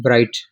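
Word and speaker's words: bright: ब्राइट, ब्राइट का माना रोशन क्या आता है, ठीक है, ब्राइट, इसमें भी GH साइलेंट है, BRIT ब्राइट, और NESS नेस, ब्राइटनेस, ठीक है, ये भी रोशनी के माने में आता है।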